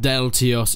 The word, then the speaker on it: Deltios: People pointed out that his name is not actually spelled Deltios, because it has an extra S in. But Deltios has been going through these troubles all his life. People making fun because he doesn't know how to pronounce his own name, but that is how he pronounces his name. It's a silent S.